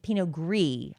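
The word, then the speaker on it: Pinot Gris: Rosé, Svenon, Blanc, Pino, Grease, P noir, Pogree, excuse me. I'm learning. Pogree. I always thought you pronounced the S on the end, but you don't.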